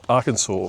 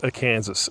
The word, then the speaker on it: Arkansas: And she puts up with me and my very bad pronunciation of Arkansas. For the longest time, I thought it was Arkansas.